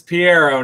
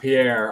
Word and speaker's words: Piero: sorry Pierro what are it's it's Piero not Pierre all right I apologize